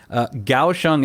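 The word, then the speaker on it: Kaohsiung: when I came here gaoshang is spelled k-a-o-h-s-i-u-n-g uh so even though it's spelled with a K it's pronounced with a G sound and I had no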